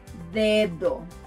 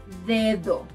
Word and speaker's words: dedo: To pronounce this letter like a native, try to push your tongue forward, D. Try saying dedo, dedo, finger.